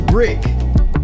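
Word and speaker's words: BRK: sure you guys listen his name is Brick but it is spelled b r.k do you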